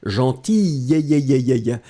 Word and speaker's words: gentille: And then you pronounce it obviously slightly differently. Gentille, elle est gentille, d'accord?